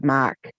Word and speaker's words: Mach: yeah March one yeah it's not Mark it's a Mach it's Mach ma a